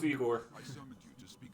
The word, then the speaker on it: Igor: Or was it pronounced Igor? No, it's Igor.